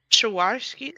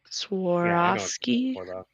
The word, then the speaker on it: Swarovski: Yeah, the Swarovski crystals. Swarovski, but probably doesn't pronounce the V as intensely as I did.